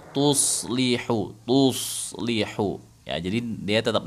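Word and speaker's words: تصلحوا: tips nih teman-teman bagaimana cara menebalkan shad yang berbaris sukun ya jadi kan bacanya wa tuslih jadi cara Apa latihannya? Latihannya ini latihannya ya, bukan bacanya. Latihannya itu gini. Tuso. Tuso. Tuso. Ah. Itu difathahkan aja dulu. Tuso. Tuso. Tuso. Kan gitu ya. Jadi kemudian disukunkan aja aslinya tuso. Tuslihu.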